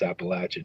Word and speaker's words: Appalachia: the audience know that's the correct way to pronounce Appalachia too there's no Appalachian but yeah it's been